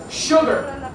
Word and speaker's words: sugar: Cuidado con la pronunciación aquí, no es sugar, que he oído mucha gente. En inglés no se pronuncia todo como está escrito, por desgracia. Right? We say shh, sugar, dilo conmigo. No me calles, no me mandes a callar. Sugar, sugar. Muy bien, SH.